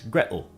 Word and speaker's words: Gretel: water, as well as the T in Gretel, is generally pronounced as a glottal stop in Cockney English. So while in some British accents it would be water, in Cockney it's water, and rather than Gretel, it's Gretel. And we heard the same